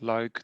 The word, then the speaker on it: Luik: It's a small leap from Liège, or as we pronounce it, Luik, to the Netherlands.